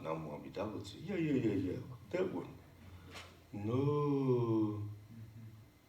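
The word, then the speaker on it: Namo Amida Butsu: Not NamoAmidaButsu. Yeah. That one. No. NamoAmidaButsu. Well, that's pretty good, Freddie, but you don't have to put the emphasis on the mu.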